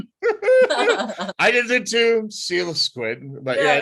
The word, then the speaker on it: Coelasquid: pronounced it's it's not koala squid it's stila squid i did it too seal of squid but yeah it's uh it's like the fish like coelacanths yeah it comes from